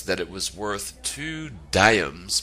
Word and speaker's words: diams: it was worth two diams pronounced dams or diams per pound a simple